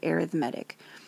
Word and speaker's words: arithmetic: looks like arithmetic but when it's an adjective it's pronounced arithmetic so an arithmetic mean